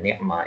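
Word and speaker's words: نعم: bentuknya yang satu tadi contohnya kata nikma ini bacanya nikma ya bukan Nam ini bacanya nikma nikma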